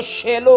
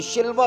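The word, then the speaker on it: שילה: इसका असल जो तलफ़्फ़ुज़ है ना, असल जो इसकी प्रोनाउंसिएशन है वो शेलो की है, वो शिलवा की नहीं है।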